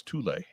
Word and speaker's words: Thule: You don't pronounce the H at all. It's Thule.